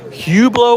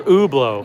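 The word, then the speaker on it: Hublot: pronounce it Hublo or ubo? We don't pronounce H until See, we did a poll uh on my channel yesterday and the viewers were right. You do not pronounce the H.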